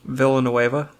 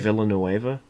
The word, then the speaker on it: Villanueva: okay cause i can what is it scott villanueva bless you villanueva now where's it dennis villanueva i'll write that